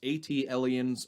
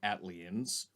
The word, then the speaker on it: ATLiens: Everybody pronounces it differently, so it's ATLiens or ATLiens.